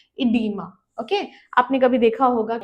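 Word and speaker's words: oedema: इसको हम ये भी लिखते हैं ओ ई डी ई एम ए but pronounce हम इसे हमेशा इडीमा ही करेंगे। ठीक है? ये बस ब्रिटिश इंग्लिश और अमेरिकन इंग्लिश का डिफरेंस है।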